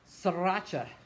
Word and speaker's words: sriracha: Sriracha, pronounced sriracha, is a type of hot sauce or